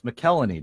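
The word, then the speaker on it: McElhinney: and Peter Mrazek do the goalies know it's McElhaney dude that's an irony yeah okay Kellen II okay so your two goalies are McElhaney and Peter Mrazek for the Carolina Hurricanes and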